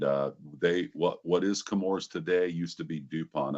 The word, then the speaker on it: Chemours: Uh, so the H is silent and uh they what what is Kamores today used to be DuPont up until 2015.